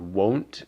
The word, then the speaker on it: 我: And then finally, with the pronunciation, I use the word won't to remember wo. And because it's Mughal, we know it's a third tone, so we know that it is wo, wo.